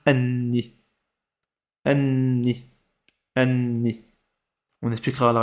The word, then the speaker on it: النيل: vrai ça se prononce Anni. Anni. Anni. On expliquera la règle plus tard. Faut juste retenir ça. Anni. Ça s'écrit L N, mais dans la prononciation ça se dit N.